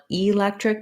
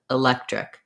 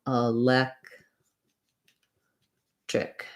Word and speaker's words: electric: even a schwa sound basically it's going to be a reduced vowel so i don't want electric but rather electric if i'm thinking of it as the red tent vowel or the if vowel or the file all of those are okay i would recommend thinking about it like a schwa um a lech trick just like that and then chair has